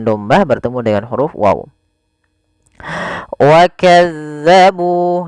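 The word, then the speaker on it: وكذبوا: Wakazzabu, nah ini tekan di zal bukan wakazzabu. Jangan kita baca dengan hati-hati, jangan sampai kita membacanya dengan wakazzabu dengan huruf zai. Ini huruf zal sebagaimana tadi walladzina.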